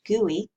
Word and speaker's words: GUI: user interface abbreviated GUI for short and often pronounced GUI and how to create hyperlinks this tutorial will